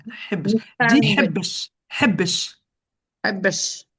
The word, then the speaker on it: حبش: Habesh. Voilà, tu prononces bien le ha maintenant.